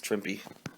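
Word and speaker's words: Trimpe: goane oh herb trimp actually it's tmpy but Stanley as actually quoted one time is saying yeah it Rhymes was shrimpy even though he wouldn't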